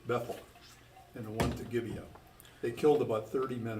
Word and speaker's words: Gibeah: Gibeah? Gibeah, thank you, as they had done before.